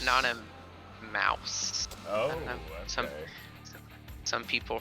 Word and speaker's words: Anonymouse: Some people pronounce it Anonymouse. Okay. So you However, prefer however you feel like pronouncing the mouse then? That is how I pronounce it.